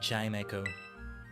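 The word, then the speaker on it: Chimecho: And Chime Echo. I was I think I was mispronouncing the hell out of chime echo. Didn't realize. Oh yeah. Okay. Okay. It's like the word chime and echo.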